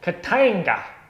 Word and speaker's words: Katanga: So the game is called Katanga, and I want you to say it like that as well. So don't, you know, oh, Katanga. Should we play Katanga? No, Katanga. That's how you say it, because it's more fun.